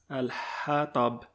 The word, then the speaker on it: الحطب: I gave a tip in Surah Al-Fatiha how to pronounce the letter ha easily is similar to the sound you make when blowing on glass. Al-Hatab, ha, like you're blowing on glass.